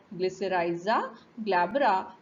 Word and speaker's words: Glycyrrhiza glabra: So it is pronounced as Glycyrrhiza glabra, belonging to the family Leguminosae, and it is